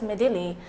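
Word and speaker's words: Midhili: has intensified into a cyclonic storm named medil pronounced as medil according to the latest National bulletin issued at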